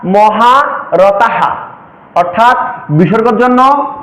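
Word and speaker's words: মহারথাঃ: হালকা পরিবর্তন হতে পারে উদাহরণস্বরূপ বলা যেতে পারে যে আমি এখানে লিখলাম মহারথা যখন এই ওয়ার্ডটি কোন শ্লোকের শেষে বা 16 অক্ষরের পরে বা আট অক্ষরের পরে থাকলে এই বিসর্গের উচ্চারণ হবে এবং এর আগের ব্যঞ্জন বর্ণের সাথে কার চিহ্ন অনুযায়ী এ হ এর উচ্চারণ হালকা পরিবর্তন হতে পারে কেমন অর্থাৎ মহা রতাহা অর্থাৎ বিসর্গের জন্য হ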